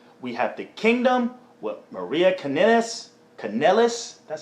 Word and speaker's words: Maria Kanellis: Next up, we have the Kingdom with Maria Kanellis.